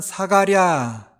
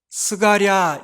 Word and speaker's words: 사가랴: 부모를 먼저 소개하고 있죠 아버지는 사가랴 스가랴 이렇게 발음해도 됩니다 스가랴 구약의 선지자 스가랴 생각나죠 같은 이름이에요 사가랴 스가랴 똑같은 이름이고요이 사가랴라고 하는데 아비야 반야레